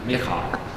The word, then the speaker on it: Michal: How do you pronounce that in Slovak? okay. Michael. Yeah. Michal.